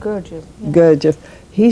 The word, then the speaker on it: Gurdjieff: Gurdjieff? How do you pronounce it? Gurdjieff. Yeah. Gurdjieff.